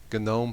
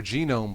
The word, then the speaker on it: GNOME: an addition based on gome 3 or genome 3 depending on how you would care to pronounce it and I'm looking